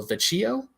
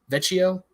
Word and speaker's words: Vecchio: at all okay then uh drawn by Luciano Vecchio Vecchio it's spelled v-e-c-c-h-i-o so okay you're the best you